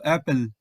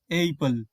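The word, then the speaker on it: apple: syllable গঠন করার জন্য এখানেও যদি ভুল করে আমরা একটি পি সরিয়ে দেই তাহলে এর উচ্চারণ এমন হয়ে যেতে পারে এইপেল তো আমরা তো এইপেল বলি না শব্দের শেষে ই থাকার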